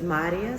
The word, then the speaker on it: Marija: So the J is a Y sound. Okay, how do you say Maria? It's Maria. Maria. Yeah, so the accent is different, like Mario. Mario. So in my language, it's Marija. Marija. Yeah. So it's a lot smoother than how you take the J is silent. No, it's a ya sound.